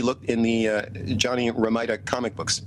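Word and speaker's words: Romita: in the uh Johnny Ramita comic books, if that's the correct pronunciation of his name. Ramita. Um is it Ramita?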